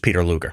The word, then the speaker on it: Peter Luger: from Peter Luger okay Peter Luger's it's Peter it's actually just Peter Luger is it really yeah